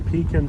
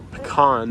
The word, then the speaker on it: pecan: You can see there's a lot being cleared at the end of this street right here on Pecan Circle, or Pecan, depending on how you pronounce it, wherever you're from.